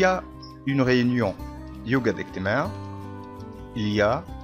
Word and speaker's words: il y a: إليا دي ننطق كده إليا، ما ينفعش أقول إل إي آ، لا هي جملة على بعضها معناها يوجد.